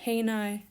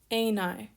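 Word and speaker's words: εἶναι: new alpha yoda and here we have smooth breathing a9 not heine and then a circumflex over that first iota aenai this is the present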